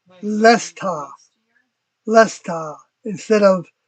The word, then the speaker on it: Leicester: Frost Dragon says, Lesta is the local pronunciation of Leicester. Lesta. Lesta. Instead of, like I would say it as Leicester. Leicester.